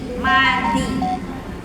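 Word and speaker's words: madzi: Madi itu tulisannya M-A-D-Z-I. Madi. Ya, danya da yang ada titiknya. Madi, bukan madi. Ya. Dal kan ada dua ya Bu ya. Ada yang tanpa titik, ada yang dengan titik.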